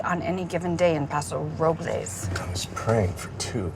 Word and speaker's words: Paso Robles: They call it Paso Robles, Well, the correct pronunciation is Robles.